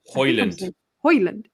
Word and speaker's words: Højlund: Højlund. I think it's Højlund. I believe it's Højlund. The J and be like Hodgland. Yeah, I definitely think it's a silent J. I don't think it's Hodgland. Højlund.